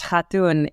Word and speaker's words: Khartoon: Khartoon is actually pronounced Khartoon. It is a Turkish name.